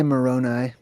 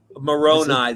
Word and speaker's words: Moroni: Most people say Moroni. Moroni. The angel. Moroni, but it's Everybody says Moroni.